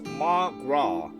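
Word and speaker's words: mo ghrá: Come on, Mogra. Irish for my love. Do you understand? Read the Irish annotation. Irish for my love. One dialect would pronounce it as ma-gra.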